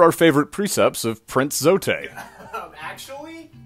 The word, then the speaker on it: Zote: these are our favorite precepts of prince zote actually it's pronounced zoe technically his full title is invincible fearless mysterious